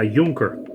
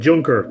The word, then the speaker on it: Junker: model tonight Matthew I'm going to be a Yonker yes you heard right some of you would say surely you mean Juncker was in fact the German made you Goerke